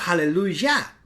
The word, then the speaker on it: aleluya: ¿Por qué no aleluya? Sino aleluya, sino aleluya. Simple. Mire, aleluya tiene el acento justamente en ya. En la sílaba final.